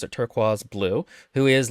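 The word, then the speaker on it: Turquoise: also knows uh Su suie turquaz because they pronounce it turquaz blue who is like um you know a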